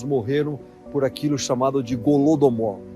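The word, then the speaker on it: Holodomor: por aquilo chamado de gulodomore se escreve com h que significa em ucraniano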